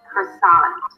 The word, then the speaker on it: croissant: So the French R turns into and then the T that is not existent in French will be pronounced in American English. So you sound an R, round your lips a little bit, and then a schwa, cr. The second syllable is an S sound, the as in father,